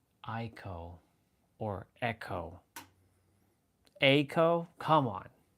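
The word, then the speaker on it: Eiko: up pronouncing and they pronounce they like they pronounce it echo. It's not echo. It's eeko or echo.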